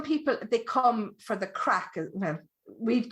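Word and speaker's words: craic: crack yeah yeah so we have the crack c r a i c it's spelled crack that kind of crack um so they they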